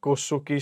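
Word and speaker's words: Nkosi: एक व्हाइट लोगों ने कौन सा गाया, ये पढ़ना, एन इसको साइलेंट करना है, कोसोकी सुकीली अफ्रीका।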